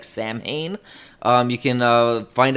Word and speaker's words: Samhain: to pronounce it uh is actually the real pronunciation of sound but it looks like samhain um you can uh find out more about